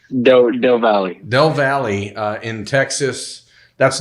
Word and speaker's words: Del Valle: How's it pronounced? Del Valley.